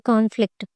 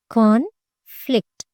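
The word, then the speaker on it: conflict: కన్ఫ్లిక్ట్, కాన్ఫ్లిక్ట్, కాన్ఫ్లిక్ట్, కాన్ఫ్లిక్ట్. సో కాన్ మీద పడుతుంది, ఇక్కడ ఫ్లిక్ట్ మీద ఎఫ్ మీద పడుతుంది స్ట్రెస్ మార్క్ అనేది.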